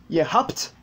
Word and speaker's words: habt: Wir haben, ihr habt, BT, le B subit encore un dévoisement et se prononce comme un P.